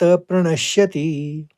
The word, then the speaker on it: प्रणश्यति: बुद्धि नाशात प्रणसति अणों के ऊपर आघात है तो प्रणश्यति में प्रणस कहेंगे फिर शति कहेंगे बुद्धि नाशात प्रणश्यति अब दो बार और उच्चारण